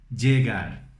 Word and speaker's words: llegar: Então, para você pegar como se fala isso, por exemplo, tem o nome Diego em português, não? Diego, Diego, Diego, llegar, llover, llanta.